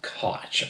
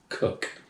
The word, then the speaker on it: Koch: know some people say koch i'm like i've seen his commercials he says cook so boosh pronounce it however you want it's pronounced cook per the man himself founder and brewer all